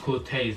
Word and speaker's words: Corteiz: be trying on clothes from quartz cortez it's pronounced cortez in it but some people say quartz cortez